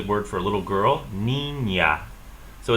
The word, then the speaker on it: niña: So this is the word for a little girl, niña. So it's pronounced almost like a Y is coming after the consonant N. So niña.